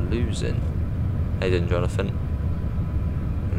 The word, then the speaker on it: Luzern: It's pronounced Luzern. Hey, then, Jonathan. Luzern.